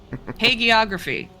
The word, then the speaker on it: hagiography: I wrote it down it is haggy yeah you got I actually put the pronunciation on the slip because apparently past me knew that future me would screw it up hagiography usually G's in the middle of words like that are hard note to self note